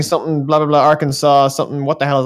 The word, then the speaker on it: Arkansas: Basically, to sum up, Uh, Arkansas is not pronounced the same as Kansas because screw it, they're American.